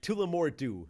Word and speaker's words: Tullamore Dew: Tullamore Dew.